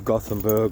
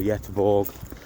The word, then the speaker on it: Göteborg: So, I'm going to go get the tram into Goththingberg or Yetborg, whichever way you want to pronounce it.